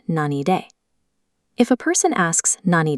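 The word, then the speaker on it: 何で: When asking how or by what means, the characters are pronounced nani de.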